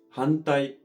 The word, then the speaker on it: 反対: それに対して反対の運は英語の円に似ている音です。